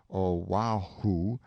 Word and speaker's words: Oahu: this group of islands Oahu and Molokai pronounced oh wow who and Molokai on the morning of